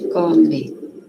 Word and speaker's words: come: A gente come. Professora, a gente pode falar come, né? Com som de i. Pode, mas tem que lembrar que escreve com e, né?